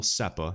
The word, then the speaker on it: SEPA: It will also be possible to make transfers to an account at another eligible SEPA, is how I pronounce it, Single Euro Payments Area Bank.